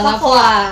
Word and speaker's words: Lavoir: Lavoir itu merupakan, sebenarnya Lavoir itu bacanya bukan Lavoir sih. Oh gimana? Lavoa. Oh, Lavoa. Kenapa sih disebut Lavoa? Karena emang pengambilan katanya itu Lavoir itu dari bahasa Perancis yang artinya itu, filosofinya